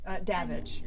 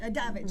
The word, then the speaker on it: Davidge: Davidge. Davidge. Rhymes with savage. It rhymes with savage.